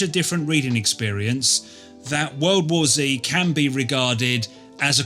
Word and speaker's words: World War Z: World War World War Zed. Ha. Let's clear that up for a start. I'm English and in my language, which is also called English, Z is pronounced zed.